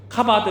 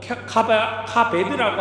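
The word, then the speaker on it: כָּבֵד: 여러분, 부모를 공경하라고 하는 말, 그 말의 히브리 단어는요, 카바드 혹은 카베드라고 하는 그 발음으로 그렇게 표현합니다. 카바드 혹은 카베드, 이 발음상의 조금 차이인데요, 이 말의 의미가 어떤 말이냐 하면 바로 무겁다, 힘겹다, 존중하다, 존경하다라고 하는 의미를 담고 있습니다.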